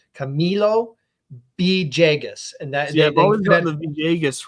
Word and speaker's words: Camilo Villegas: don't put enough emphasis on the me it's Camilo B jagus and that thejus right but I think I've